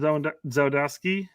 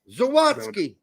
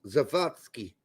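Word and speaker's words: Zawadzki: Adams and uh Sean Zo Zodski. Zawatski. Zawatski. Thank you. I'm not sure why I put the wrong emphasis in the wrong sals. In German, he would be pronounced Zavatski.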